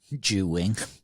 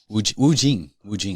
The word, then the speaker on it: Wu Jing: Ju Wing. Wu Jing. I said it wrong twice. Wu Jing. Jing.